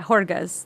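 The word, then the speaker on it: Hårga: Oh yeah, Horgas. That is right. It's spelled with an A, but they pronounce it with an O.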